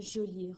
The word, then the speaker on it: jolie: Et le E de joli, il est muet, je ne l'entends pas.